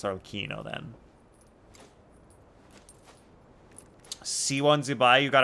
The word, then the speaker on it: Arlecchino: Oh, and then the Julian Mikel video says it's pronounced with a stressed C syllable, not a ch. Okay, it's Arlecchino then.